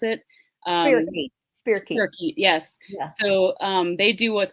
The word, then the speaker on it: spirochete: I guess that's how you pronounce it. Um, Spirochete. Spirochete. spirochete, yes.